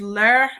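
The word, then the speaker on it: leur: there's two forms there's ler and ler they're pronounced the same only difference is that one has an s so if it's plural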